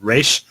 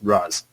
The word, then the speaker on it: Ra's: One pronounces it Raish, one pronounces it Raz.